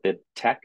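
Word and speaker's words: BibTeX: a link there called bit text or Bid Tech as it's pronounced and that can be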